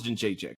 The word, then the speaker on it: Jędrzejczyk: I definitely think I said her first name wrong. No, it's Jędrzejczyk though.